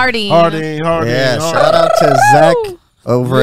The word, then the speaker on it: Jardine's: Shout out to Jardine's. It's pronounced Hardine.